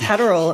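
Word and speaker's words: Heyerdahl: Maybe it's Hderal. It might rhyme like rhyme with Adderall.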